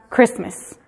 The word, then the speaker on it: Christmas: en este caso específicamente la te tiene que ser muda porque ésta no simplemente es una palabra común es una palabra que christmas nos de sí pronunciamos esta te nos nos daría un espacio entre tres y más verdad entonces la gente prefiere nada más crist meses y así ha sido